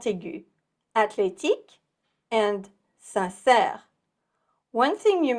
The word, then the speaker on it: athlétique: One thing you may have noticed is how the TH in athlétique sounds like the T in Atlanta. We'll spell it with the TH, but the H is undercover, seen and not heard.